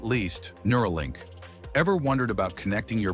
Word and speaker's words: Neuralink: say it nura nura inspired by neural as in brain power link Simple and